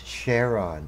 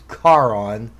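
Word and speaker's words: Charon: know that's why we can't pronounce cheron it's karon it's a greek word and you guys are reading the latin translations of a greek word where there's a ch at the front because the latins didn't have a kappa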